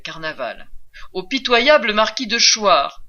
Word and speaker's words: Choir: Du marquis de Carnavant, un nom qui rime avec carnaval, au pitoyable marquis de Choir, un nom qui se prononce comme le verbe choir, l'aristocratie dans les Rougon-Macquart égrène inlassablement les symptômes de sa déchéance.